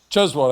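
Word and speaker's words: Cheswold: And the residents, this whole front row up here are all from Chzwald. Chzwald. I said that right. Right. You got to roll that last part, that last syllable out.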